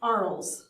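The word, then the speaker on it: Arles: he moves to to ARL ARL pronounced so uh in May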